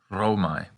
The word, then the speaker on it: Romae: When A and E combine, it's pronounced I, just like eyeball. This diphthong is used constantly in noun declension. For example, Roma becomes Romae.